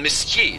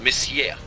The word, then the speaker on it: Messier: m steht für Messier ausgesprochen Messier nicht Messier Charles Messier um genau